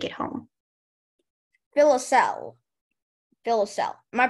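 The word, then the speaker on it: filoselle: kids would take it home fill a cell fill a cell am I pronouncing that right it sounds about right okay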